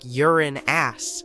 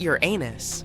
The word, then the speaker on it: Uranus: Astronomers say we should be pronouncing it like Uran ass, not Uranus. I can't say a different stress change as much though.